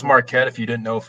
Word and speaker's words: Marquette: I I could see Marquette I can see that call it Marita oh no not Marquita don't do that to me marquetti not Mar uh for me I I